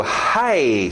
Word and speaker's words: high: High school. Deixa esse GH fora.